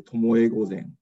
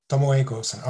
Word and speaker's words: Tomoe Gozen: The pronunciation is Tomoe Gozen. Tomoe Gozen.